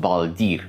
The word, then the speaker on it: Baldr: Baldr, in runes, would be pronounced Baldir or Baldir, which means new or